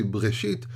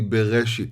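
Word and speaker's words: בראשית: Like, for example, when you say the word bereshit, you don't say breshit, you don't say bereshit, or so. It's very difficult to pronounce without it. It's really bereshit.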